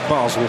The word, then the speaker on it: Basel: Funny, isn't it, how it was always known as Basle when I was a boy at school, but now we're told the correct pronunciation is Basel.